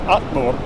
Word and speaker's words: allur: Or the word all is Allur, A-L-L-U-R.